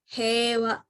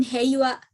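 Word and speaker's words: 平和: e di bagian depannya, seperti hewa gitu, bukan heiwa tapi hewa gitu teman-teman.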